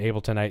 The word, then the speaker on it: Ableton: I've just never been sure how to pronounce it. Ableton.